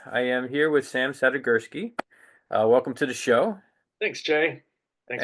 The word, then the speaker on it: Sadigursky: I want to make sure I get the pronunciation of your last name proper. So could you just confirm it with Yeah. me? Sadigursky.